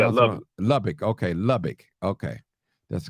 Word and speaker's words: Lubbock: it okay okay I love it Lubbock okay Lubbock okay that's correct pronunciation man I gotta do the research on